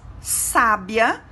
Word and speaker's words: sábia: E quando pronunciamos sábia, percebemos o acento agudo na letra A, que segue o S. Então, a pronúncia de cada uma das palavras se torna diferente.